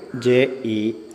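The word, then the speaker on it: جيم: ജെ ഇ എം എന്ന് വെച്ചാൽ എങ്ങനെ വായിക്കും, അതാണ് ജീം.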